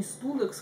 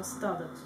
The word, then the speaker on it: Studex: Это не Studex, как у нас в России всегда читалось, произносилось, а Stadex.